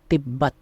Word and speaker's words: तिब्बत: तस्दीद क्या करती है, एक बार तो आधा प्रोनाउंस करवाती है, एक बार पूरा।